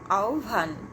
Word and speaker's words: আহ্বান: তো আহ্বান, এটা আসলে যেটা বানানটি লেখা আছে সেখানে আছে আ হ ব আকার দন্তন্য। তো এটার উচ্চারণ হবে আহ্বান।